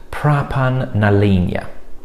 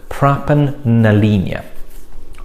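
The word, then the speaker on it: Pràban na Linne: i've probably got it wrong so it is pronounced pra pan nalinia that's how she's written it down praban nalina i wasn't even close i wasn't expecting to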